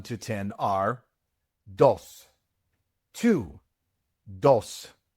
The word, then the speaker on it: dos: It is not dos. It is dos. The v in no is pronounced like a b in English.